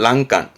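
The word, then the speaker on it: 欄干: 난간을 말합니다 이게 난간입니다 발음은 란간 란간 요거 잘 나옵니다 앞에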